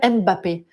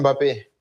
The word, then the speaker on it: Mbappé: Il y a énormément de Français qui vous appellent Kylian Mbappé. Est-ce que c'est comme ça qu'il faut prononcer? Non, non, mais voilà. bon, j'aurais beaucoup de travail si je devais corriger tout le monde. C'est Kylian Mbappé.